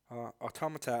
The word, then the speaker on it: Automata: Automata, as I would have pronounced it until the game told me otherwise, literally at the end.